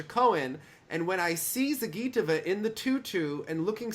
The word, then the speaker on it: Zagitova: Alina Zagitova. Yes. Zagi. It's on the gi.